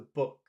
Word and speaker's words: book: I mean, I can see it has two O's, so you would think it's long.